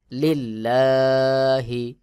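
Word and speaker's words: لِلّٰهِ: আগের হরফে জের রয়েছে এটা পাতলা করে উচ্চারণ করতে হবে যেমন লিল্লাহি আল্লাহু লিল্লাহি র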